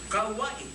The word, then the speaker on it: Kauai: I said, K-A-U, I stop. I pronounce K-A, and I use W-A-I. Kau, K-A-U-W-A-I. Kauai.